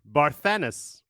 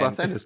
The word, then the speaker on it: Barthanes: Barthanes. Barthanes, Bartholomew. Is it Barthanes, Joe? Because I always Yes. call him Barthanes.